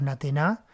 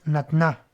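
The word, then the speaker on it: נָתְנָה: No decimos natená, decimos natná. ¿Sí? Obviamente hay variaciones en la pronunciación. ¿Sí? Con el paso del tiempo, y por ejemplo en hebreo moderno, a nadie se le ocurriría decir natená, sino natná.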